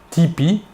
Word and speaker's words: TP: son nom et prénom tony parker a prononcé tipi avec l'accent américain il joue maintenant dans